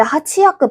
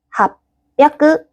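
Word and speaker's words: 八百: 800은 하치야크. 아, 근데 하치야크 발음이 불편하네. 그래서 합야크.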